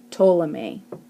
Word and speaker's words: Ptolemy: correct answer is C ptolemy by the way the P is silent if you got it